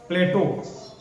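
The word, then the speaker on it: plateau: भाई आप अभी पठार पढ़ेंगे, इसी में प्लेटो क्या कहते हैं, प्लेटो, हाँ प्लेटियो करके PLETUE करके स्पेलिंग होती है।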